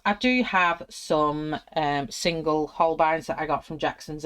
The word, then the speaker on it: Holbein: Now some people call them Holbein. I pronounce it as Holbein because E and I is an I, so Holbein in the